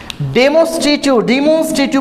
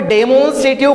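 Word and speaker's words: demonstrative: Number 3 डेमोन्स्ट्रेटिव pronoun, डेमोन्स्ट्रेटिव pronoun. Okay अब इसको डिमोन्स्ट्रेटिव बोलते हैं, कोई डेमोन्स्ट्रेटिव, कोई डेमोन्स्ट्रेटिव नहीं बोलना है।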